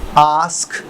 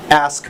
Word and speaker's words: ask: نے کیا لگانا ہے، آسک، ASK، آسک بھی بولتے ہیں، ایسک بھی بولتے ہیں، یہ برطانیہ اور امریکہ کے لہجے کا فرق ہے۔ ایسک اور آسک، دونوں میں سے جو بھی آپ استعمال کرنا چاہیں دونوں کریکٹ ہیں.